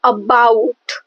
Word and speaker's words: about: As for example, in the word about, about, so the first syllable A is unstressed. So the first syllable A is unstressed and the second syllable bout is stressed.